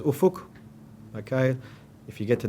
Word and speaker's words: Ufuk: How do you say your name? Okay. Look, I've been called plenty of things in my whole career, so it really doesn't bother me. My name is Ufuk.